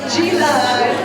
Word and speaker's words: Gila: did I say it right? No, Gila.